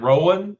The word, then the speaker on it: Rowan: And is it Rowan? Is it how you pronounce it? Yep, right. Nailing it.